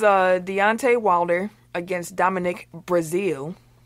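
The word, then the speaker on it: Breazeale: Deontay Wilder against Dominic Brazil is not spelled like the country but is pronounced the same yes which led to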